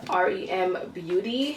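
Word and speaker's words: r.e.m. beauty: talk about ariana grande's new line this is pronounced rem beauty and so there's a lot of makeup in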